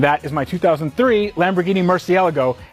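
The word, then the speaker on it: Murciélago: is my 2003 Lamborghini Murcielago and yes that is the right way to say it alright cold start in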